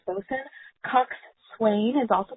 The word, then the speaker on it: bosun: So, bosun, like you said, is pronounced bosun.